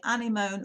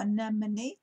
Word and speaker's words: anemone: this is a well you can either pronounce the ana moan or anemone fleeting passion look at